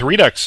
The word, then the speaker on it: Redux: And I really want to say reduced. It's pronounced Redux. It is Redux. Yeah, I think it's based on a French word, but pretty much everyone I've heard pronounce it calls him Redux.